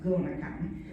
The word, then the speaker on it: GonaCon: And a lot of people call it GonaCon, but just FYI, think of the word gonad or gonadotrophin, it's pronounced GonaCon.